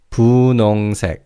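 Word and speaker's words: 분홍: And pink is pun. Now, in terms of pronunciation, the he in the second syllable is barely audible. You can hear it slightly, but it's almost silent. So, it's pun.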